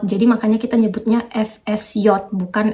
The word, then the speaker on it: FSJ: Jadi FSJ itu FSJ sama ya teman-teman, cuma kalau di bahasa Jerman J itu dibacanya J, jadi makanya kita nyebutnya FSJ bukan FSJ kalau di bahasa Jerman.